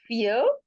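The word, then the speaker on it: vier: Dry then next is फियर। फियर फियर जैसे English वाला फियर word होता है, फियर फियर उस तरीके से।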